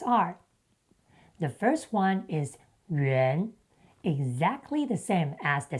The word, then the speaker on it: 袁: In traditional Chinese, the character 袁 is used as the sound brick, pronounced yuán, while simplified Chinese uses 元 instead.